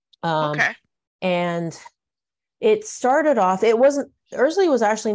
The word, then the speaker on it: Erzulie: So I used to say Er-zuh-lee as well, because that's what it looks like, but it's Er-zuh-lee actually.